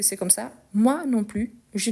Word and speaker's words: plus: toujours moi non plus ici on ne prononce pas le S ok au lieu de dire moi non plus non moi non plus ok parce que c'est